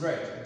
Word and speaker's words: read: present form okay and the past tense is red though spelled the same way but the pronunciation is different so we have read